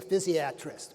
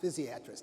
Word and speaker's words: physiatrist: an anesthesiologist or you're likely to see a physiatrist by the way that's the way it's properly pronounced physiatrist not physiatrist physiatrist you're likely to see one